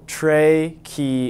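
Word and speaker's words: tracheid: Jane how do you how do you pronounce that no seriously oh Trey key is okay thank you water moves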